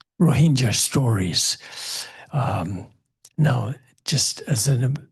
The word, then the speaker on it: Rohingya: And I know that these people, when they're in Bengal or Bangladesh, they call themselves Rohingya. But in Myanmar, they're called Rohingya. And so I use the Myanmar pronunciation because that's, my brain is in Myanmar sometimes.